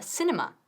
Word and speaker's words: cinema: Decimos cinema y no cinema. Cinema, cinema. Con una I corta, vamos conmigo.